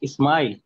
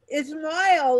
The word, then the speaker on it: Ismail: It's Ismail. Ismail, like smile. Yeah, like smile.